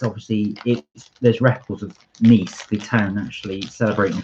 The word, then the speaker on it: Nice: It's pronounced Nice. Nice. Well, yes, obviously, yeah. But everyone calls them nice biscuits, right? Apparently, they were named after the city itself, although they are British biscuits.